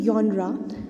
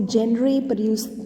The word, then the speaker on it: genre: एज a literary जॉनरा, तो ये शब्द जो है जिसको लिखा गया है इस स्पेलिंग के अंदर GENRE, इसको जेनरे जो है प्रोनाउंस नहीं करेंगे. इसको क्या प्रोनाउंस करेंगे? जॉनरा.